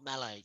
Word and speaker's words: Melee: oh, you're not playing Melee, are you? And this guy was like, it's not Melee. You can't. Like, really annoys me when people say it like that.